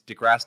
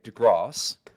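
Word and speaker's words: deGrasse: I am right it's degrass Tyson uh what from two people what am I wrong Neo degrass Tyson pronunciation degrass um or in UK degross um and then jcat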